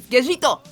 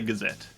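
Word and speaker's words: Gesicht: That's how they pronounce it in Japanese. Gajito. That's where I was struggling. So then I put on the dub just to hear how they say it, and they just say Gazette.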